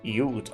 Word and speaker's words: ute: Ute is a type of truck pronounced Ute.